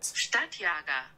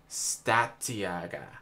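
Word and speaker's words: Stadtjäger: Stadtjager. Stadtjager.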